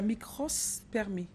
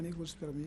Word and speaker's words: nécrospermie: On appelle nécrospermie le fait C'est qu'il y ait- micro ou micros? Nécro. Micro. Nécro. Nécro. Oui, c'est-à-dire mort.